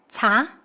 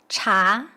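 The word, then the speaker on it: 茶: In Cantonese, tea is pronounced something like cha. It's actually close to Mandarin pronunciation, cha.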